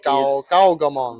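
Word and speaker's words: Gaogamon: Gaogomon.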